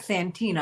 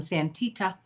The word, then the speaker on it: Santita: okay because you know I'm not Santina I'm santita I have to let people